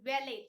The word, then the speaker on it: valet: Now this word to be pronounced as valet, T is silent here. Okay, so what is the meaning of valet?